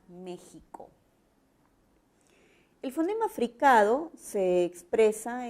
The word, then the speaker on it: México: Se representa para sílabas que van a sonar a ja, je, ji, jo, ju. La grafía fácilmente será la J. En algunas palabras será la G. Y en otras puede ser hasta la X, como la palabra México.